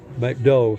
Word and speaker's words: McDo: They don't pronounce the last letters, McDove.